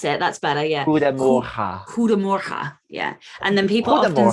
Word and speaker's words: Goedemorgen: Goedemorgen. Goedemorgen. But it's spelled God Morgan. Yes. Yeah, good morgen. Yeah. Goedemorgen. Goedemorgen. Morgen. That's it. That's better. Yeah. Goedemorgen. Goedemorgen.